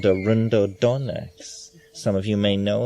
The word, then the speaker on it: Arundo donax: So it's possible that Arundodonax and Pergamon harmala would yield an interesting... Say that again. You spell it?